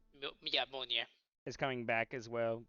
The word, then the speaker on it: Mjolnir: Oh my god, I can't pronounce it right. Yeah, Mjolnir.